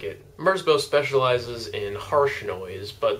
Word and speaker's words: Merzbow: To give you an idea of what I'm talking about, I'm gonna go ahead and show you a Merzbow live show. Hey, it rhymes.